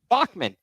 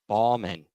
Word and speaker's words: Bachmann: Bachmann. It's B- A Ghan. No one told me it was Bachmann. I was pronouncing it Balman all season long.